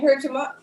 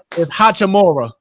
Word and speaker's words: Hachimura: I can't pronounce that boy name. Hurchima, not Hurchima, but Lord, what's the boy name? Who's the boy name? We going back to the 90s for real. It's Hachimura.